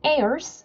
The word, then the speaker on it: heirs: And if you are Christ, then you are Abraham's seed and heirs according to the promise. 만약에 너가 그리스도의 것이라면 그러면 너는 아브라함의 자손이요. 그리고 heirs라고 있습니다. H가 묵음이에요.